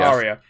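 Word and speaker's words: Arya: how do you pronounce arias name do you empower aria is their emphasis from the are would you just skip the are and go oh yeah you pronounce the art but it's just aria sorry I suck a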